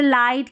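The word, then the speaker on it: light: और कई स्पेलिंग में, जैसे लाइट की spelling L आई जी एच टी, तो वहाँ पर जी एच साइलेंट होता है, तो इस तरीके से जी एच के उच्चारण है।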